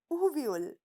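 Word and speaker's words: Aviyal: एक नाम कुक के दिमाग में आया और वो नाम क्या था, एवियल। क्या नाम था, एवियल। और जिसको केरला में कैसे प्रोनाउंस करते हैं, उवियल।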